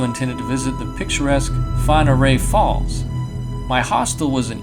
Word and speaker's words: Whangarei: Whangarei is Maori, so it's not spelled or pronounced the way you'd expect. It's not Whangarei, it's Whangarei.